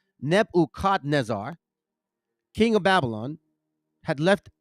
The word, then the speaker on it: Nebuchadnezzar: nebu shz I'm sorry nebu Nezar that's how you say it not Nebuchadnezzar it's nebukadnezar king of Babylon had